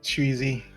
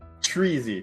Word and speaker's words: Chewy-Z: Oh, like like you like you have an easy time chewing on things, Chewy-Z, got it.